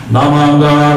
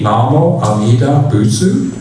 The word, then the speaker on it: Namo Amida Butsu: Namanda, Butsu Namanda, Butsu Namanda, Butsu Namanda. So people ask, it should be Namo Amida Butsu.